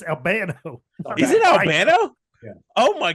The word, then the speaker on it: Albano: with Captain Lou yet Captain Lou Albano Albano yeah because he was said albino like that's what I say yeah because it's Albano is it Albano oh